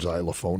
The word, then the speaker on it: xylophone: uh just said take take the word xylophone now that's spelled with an x but it sounds like should be spelled with a z am i right it